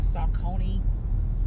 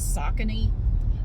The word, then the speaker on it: Saucony: these Saucony I thought I always thought it's pronounced like Saucony but I looked it up online and apparently it's Saucony I have this pair of shoes and I